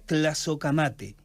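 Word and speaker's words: tlazohcamati: Yo decía en la exposición de esta tarde que, por ejemplo, la palabra gracias en náhuatl se pronuncia tlazocamate y se acompaña de un gesto determinado, de una posición de brazos.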